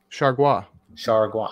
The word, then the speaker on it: Chargois: How do you pronounce his last name, Jay? J.T. what? Chargois.